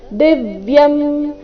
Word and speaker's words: ದಿವ್ಯಂ: ಪುರುಷಂ ಶಾಶ್ವತಂ ದಿವ್ಯಂ ದಿವ್ಯಂ ದಿ ಮೇಲೆ ಆಘಾತ ದಿವ್ಯಂ ಆದಿ ದೇವಮಜೌ ವಿಭುಂ ಆದಿ